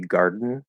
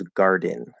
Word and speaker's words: garden: So the more natural, faster, common way to say it would be garden, where it's like a syllabic N. But the clearly enunciated full pronunciation of the word is garden, garden. Um, I believe it can also be a schwa, garden, which is a little weird to me, but usually it is